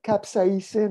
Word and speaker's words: capsaicin: Ray often talked about capsaicin. How do you pronounce it in English?